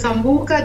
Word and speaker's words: Sambuca: town of sambuka the Sicilia how do you pronounce the name of the town so the name is sambuka the Cilia the Cilia okay yes cilia is